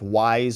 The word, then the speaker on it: Wise: One named Leo Wise, which is very closely phonetically related to Weiss, but it's not the same. It's Wise versus Weiss.